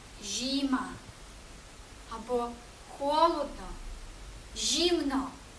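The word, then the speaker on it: zima: склад читається як ші та з літерою Z з з коли додаємо і прочитаємо як жі наприклад слово зима жіма або холодно жімно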